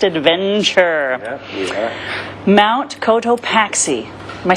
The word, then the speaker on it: Cotopaxi: Mount Cotopaxi.